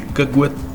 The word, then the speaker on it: cagouette: le cagouette et voyez qu'on a prononcé kagouette en mettant le thé très légèrement à la fin le câble pas le